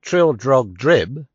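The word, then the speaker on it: Trildrogdrib: tr drag dub or Trill drug drib for it is pronounced both ways as near as I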